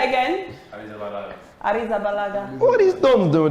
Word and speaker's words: Arrizabalaga: Arrizabalaga.